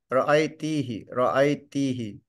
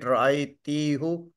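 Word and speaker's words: رأيتِهِ: Because T is taking the kasra, so if we pronounce it ra'aytihu, it is not so convenient. So they give it kasra. Just to make it easy. The combination tihi, the combination tihi sounds better than tihu.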